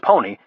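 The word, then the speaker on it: Pwny: Pronounced Pony, the company was a play on words from pwned in the gaming world, whereby someone cleans your clock and owns you, and Pony from the old Pony Express.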